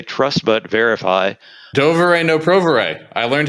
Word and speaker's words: Доверяй, но проверяй: You can make that rhyme if you say it in Russian. Oh. Yes, it rhymes in Russian. That's the original proverb in Russian, does rhyme, yes.